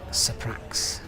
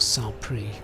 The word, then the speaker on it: Saint-Prix: The veer will be, of course, Saprax, or Saint-Prix, as it's actually pronounced.